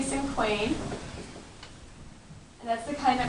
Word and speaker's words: cinquain: Now today we're going to learn about a type of poem called cinquain. You can say it cinquain or cinquain. There's a whole bunch of different ways you can say it. I say cinquain.